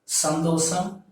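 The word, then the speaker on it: சந்தோஷம்: So you have to pronounce this as sandosam.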